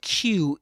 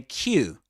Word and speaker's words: queue: So, and as I said before, as I as I said, as I say on the video, u the word Q is pronounced just like the letter Q, right?